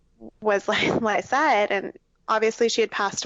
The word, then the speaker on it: Lycette: And people mispronounce. I hear are you Lachey? Lysette? And I'm like, no, it's Lysette.